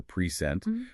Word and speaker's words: present: And two-syllable verbs often stress the second syllable, like record or present.